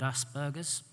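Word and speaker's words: Asperger: heard about something called Asbergers it's a hard G by the way and a light turned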